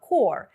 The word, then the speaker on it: corps: Зверніть увагу на написання та вимову слова core. Не путайте його з corpse – мертве тіло, corpus – корпус, збірка або core – ядро, серцевина. Множина від core – cores – пишеться так само, але вимовляється із закінченням cores.